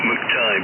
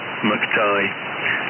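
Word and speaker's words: McTigue: Yes, M-C, for Mike, and then T-I-G-U-E, Tango Italy Golf Uniform Echo, but people seem to pronounce it McTighe, and he gave up on it.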